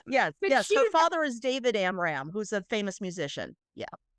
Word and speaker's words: Amram: Her name is Megan Amram and she w I don't know if I'm pronouncing her last name correctly.